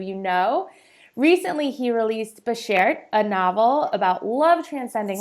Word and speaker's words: Bashert: Bashert.